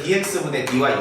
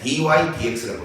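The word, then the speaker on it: dy/dx: 이거를 dx분의 dy 이렇게 읽으면 안 돼요. 원래 dy dx라고 읽어요.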